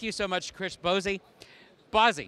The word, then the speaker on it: Bozzi: Bozzi. You got it right.